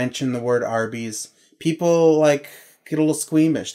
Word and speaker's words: Arby's: No, so if you spell it... I want some Arby's. I'm putting America in there, but it's not America, it's roast beef, so R, A-R, also, okay. You can also read it as R, and then B's, it's